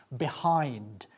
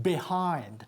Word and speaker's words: behind: Behind. Fíjate en la pronunciación behind. La B es muy explosivo. No decimos behind, sino behind.